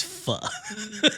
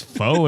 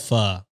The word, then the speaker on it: pho: That makes foe in my my brother. mind. Fucked up that pronunciation. That's fine. That's fine. But that's the title. Okay. You know what? Here's a hot take. I love pho, but most of my Vietnamese friends say pho